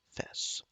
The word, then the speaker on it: FES: He pronounced it like the first half of festival. Okay, so I'm saying her name wrong. Gomen. Fess.